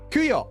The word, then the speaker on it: Kuyo: So it's Milo and let me remember how to pronounce the other one's name because it was the Japanese pronunciation, not the English one. Kuyo.